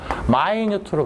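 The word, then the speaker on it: minute: 미니트 하면 안 돼? 명사할 때가 미니시고 마이뉴트로 발음하는 거야.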